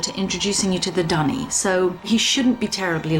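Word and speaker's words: D'ni: was looking forward to introducing you to the dunny so he shouldn't be terribly long why don't you wait in his study it's pronounced the Donny like not that Denis huh also totally thought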